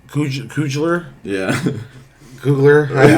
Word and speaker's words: Coogler: but the director uh Ryan Cougler Coug can't pronounce that last name, can you? Uh Ryan Coogler.